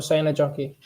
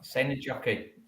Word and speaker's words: Seinäjoki: They pronounce it different. It's actually called Esiko. Esiko. Yeah, Esiko Seinäjoki. So Seinäjoki. Seinäjoki.